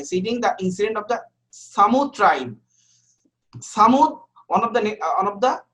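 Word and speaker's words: Thamud: The people of Samud, the nation of Samud, here is like a Tamud, but actually it's pronunciation Samud.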